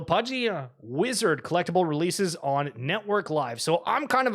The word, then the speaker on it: NTWRK: never checked it out it's just called the network but it's spelled kind of weirdly so just keep that in mind uh in the ntwrk not the full word uh but pudgy Penguins